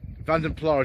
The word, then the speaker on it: Vanden Plas: Vanden Plas is actually the pronunciation that was used for this trim level in Austin Road publicity material at the time.